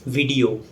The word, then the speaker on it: video: Yes, it's the correct pronunciation, video. It's often mispronounced as video. There's not no E sound, but E sound. It's shorter in duration.